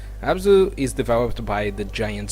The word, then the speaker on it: Abzu: how to pronounce but I think the best way to call it is abzu abzu is developed by the